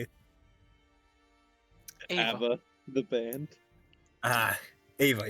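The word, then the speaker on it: Eva: Ava.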